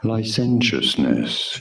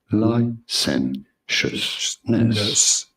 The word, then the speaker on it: licentiousness: Licentiousness. You do want to stress on the second syllable, on the sentence syllable. Licentiousness.